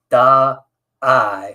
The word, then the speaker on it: Da'ai: So I told my wife, I said, we need to make sure she clearly pronounces Da'ai as separate, because we don't want her running around, in 3rd and 4th, 3, 4, 5-year-olds saying die, die, die, because she didn't separate the da and the I, and the English